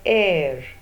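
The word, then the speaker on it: heir: also a vowel sound H E I our edge a silent we pronounce this word as air it begins with a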